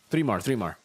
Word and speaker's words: 3mar: How do you pronounce that? 3mar.